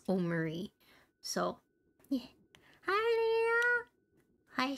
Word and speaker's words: Omori: Also, I looked up the pronunciation of this game and it is Omori, so I was pronouncing it correctly.